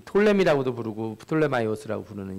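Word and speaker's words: Ptolemy: 이 원문대로 읽지를 않고 왜 톨레미라고 있냐? 이게 앞에 P자가 붙어 있는데 원래대로 읽으면 프톨레마이오스인데 영어에서 이렇게 앞에 P자가 붙어 있고 뒤에 T가 나오면 P를 묵음으로 읽어요.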